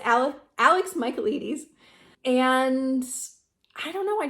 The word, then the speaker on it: Michaelides: that I had to look up how to pronounce, because I was like, what even is that? But it's Alex Michaelides.